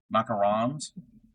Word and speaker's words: macarons: Not macaroons. Macarons.